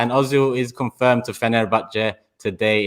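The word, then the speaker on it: Fenerbahçe: Well, before we do that, I just want to get this pronunciation of Fenerbahce right. Because we all say Fenerbahce, and that must be painful to your ears the way you pronounce it.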